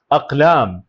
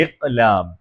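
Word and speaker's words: أقلام: نہیں بلکہ علا انسان۔ اقلام، ہذہ اقلام، اب میں یہ نہیں کہہ رہا ہذہ اقلام، بلکہ میں حمزہ بول رہا ہوں ہذہ اقلام۔ امر بالمعروف، امر میں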